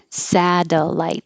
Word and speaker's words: satellite: in the unstressed syllable satellite I usually don't spell in column B with real spelling but in this case I thought it might help you remember sad light the T changes to a d satellite natch